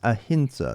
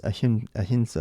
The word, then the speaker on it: Ahimsa: This is Ahinsa. This is not an M. It's Ahinsa. It's pronounced with an N.